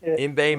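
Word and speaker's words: Yngwie: Imbe Malmsteen. That's how it's pronounced.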